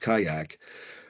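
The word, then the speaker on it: CIAC: construction timeline also note the initial contribution in Aid of construction pronounced kayak the down payment is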